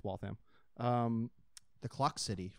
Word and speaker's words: Waltham: Nope, it's Waltham. The Clock City, right? Mm-hmm. Or Watch City. Waltham's Watch City.